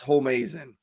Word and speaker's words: Homeazin: Homie, as in it's pronounced Homeazin.